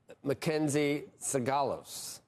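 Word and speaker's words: MacKenzie Sigalos: And Mackenzie Sagalos joins us now with more.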